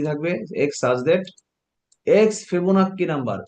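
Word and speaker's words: Fibonacci: এক্স এর বৈশিষ্ট্য কি থাকবে এক্স সাচ এক্স ফেবোনাক্কি নাম্বার ফেবোনাক্কি একজন বিজ্ঞানীর নাম গণিতবিদের নাম ডাবল সি উচ্চারণ ক ফেবোনাক্কি ফেবনাম্বার এন্ড এবং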